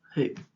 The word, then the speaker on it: who: it may be who W is a silent letter in the word word who words that have silent